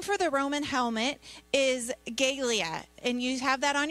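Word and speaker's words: galea: so the name for the roman helmet is gaelia and you have that on your helmet or on your hand out there and it's spelled g-a-l-e-a and it's pronounced gaelia the helmet was made of iron and bronze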